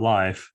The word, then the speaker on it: Lyfe: the bottom right corner um our definition of life or Life as we pronounce it um was published a few years